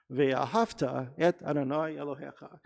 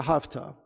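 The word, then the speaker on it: ואהבת: lose sleep at night when people say hafta and that's actually a real mis important mispronunciation of that word uh via hofta because if we break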